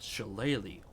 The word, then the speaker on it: shillelagh: And it also allows you to cast a special spell called Shillelagh once a day. Is that how you pronounce that word? Shillelagh? Yeah. Yeah. Well, Yeah, today shillelagh.